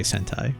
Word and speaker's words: Sentai: Make sure to say Sentai, not the other misinterpretation of that word that it rhymes with.